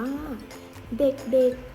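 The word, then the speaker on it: เด็กๆ: ยมุก แทน นะ คะ แต่ เวลา อ่าน เรา จะ อ่าน ว่า เด็ก เด็ก เด็ก ๆ ทำ เสียง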